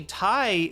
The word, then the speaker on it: Thai: But actually Thai is one of the words that has like a an H which is silent before the T.